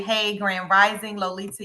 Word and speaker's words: Lolita: a backstory you know when people say my name often times they say Lolita and they say it with a d and they don't mean anything by it but it's Lolita with a t and there was a